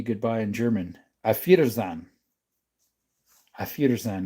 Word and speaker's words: Auf Wiedersehen: Auf Wiedersehen. Auf Wiedersehen. It almost sounds like you're saying my feet are in sand.